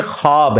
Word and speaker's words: ख्वाब: नहीं आ सकता अच्छा ये लफ्ज लिखने में है ख्वाब ख व अलिफ बा लेकिन पढ़ने में यह खवाब है व साइलेंट हो जाता है ख्वाब पढ़ा जाता है यह लफ्ज उर्दू में